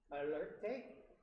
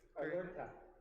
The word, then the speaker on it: alerta: Alerte? Alerta. Yes.